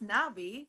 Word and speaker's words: NNABI: Nabi, actually it's pronounced Nabi.